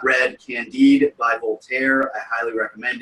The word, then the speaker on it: Candide: uh c-a-n-d-i-d candid yeah it's spelled like candid but it's pronounced candy it's french oh okay but they